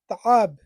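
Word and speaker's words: تعب: কঠিনের আরবি হচ্ছে তাআব। এখানে লেখা আছে তাব, তাব বলবেন না। একটা আইনের একটা উচ্চারণ আছে তাআব।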